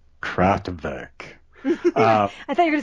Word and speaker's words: Kraftwerk: Kraftwerk, or if you want to pronounce it correctly, Kraftwerk.